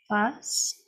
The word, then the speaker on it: fassent: En effet, mais ENT à la fin, on ne prononce jamais.